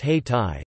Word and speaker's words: Hayti: Durham quickly developed a vibrant black community, the center of which was an area known as Haiti, pronounced Hay-Tai, just south of the